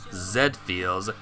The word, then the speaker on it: Z Feels: It's pronounced Zed Feels, like the anime robot, you know?